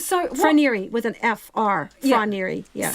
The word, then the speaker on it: Fonterra: I think it's Fonterra. So Fonterra with an F-R.